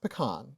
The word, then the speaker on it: pecan: I want to go to Texas for all those things that you talked about, especially the pecan pie, because it's pronounced pecan.